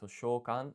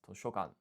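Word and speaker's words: 図書館: So, to think Um okay, so just one minor thing for library, you keep saying toshokan, while it's toshokan. Not using the long sho but instead just a short one.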